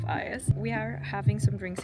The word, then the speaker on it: Ios: I did pronounce it yesterday super wrong, but it's Garden of Ios.